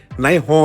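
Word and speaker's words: นายฮ้อย: นาย ฮ้อย นี่ ครับ ใน ภาษา อีสาน กะ สิ ออก เสียง ว่า นาย ฮ้อย นี่ แหละ ครับ บ่ แม่น นาย ร้อย ตรี นาย ร้อย โท หรือ ว่า นาย ร้อย เอก หรือ ว่า ยศ ทาง ทหาร ยศ ทาง ตำรวจ แต่ อย่าง ใด ครับ คำ ว่า นาย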